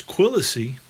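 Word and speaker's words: Quilici: And it's Quillacy, Frank Quillacy, thanks to a very cool watcher. He contacted me about my pronunciation of his name, which was atrocious, beyond atrocious.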